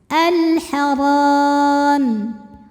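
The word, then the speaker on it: الحرام: Alharam. Huruf ro dibunyikan secara tafkhim karena berbaris di atas maka dibacanya tebal.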